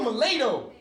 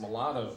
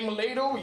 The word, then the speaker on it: mulatto: he's funny he's like boy you a milado actually it's pronounced mulatto dad well i say malato you say mulatto you ain't black if